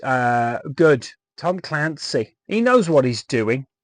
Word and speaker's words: Clancy: it's uh good Tom Clancy he knows what he's doing and his name rhymes with Nancy but it's not that's